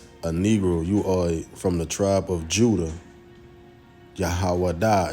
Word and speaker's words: Yahawah: Yahawah is how you say it in Hebrew.